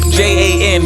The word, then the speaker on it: Jan: I'm not sure where he's from, but his name is Jan, but it's pronounced Jan.